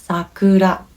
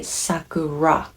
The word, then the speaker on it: sakura: Or another one, sakura, cherry blossom, sakura. So you might say sakura, but that's not quite right?